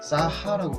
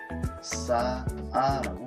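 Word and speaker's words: 쌓아: 그럼 우린 이거를 싸하라고 발음하는 게 아니라 싸아라고 발음한다는 거죠.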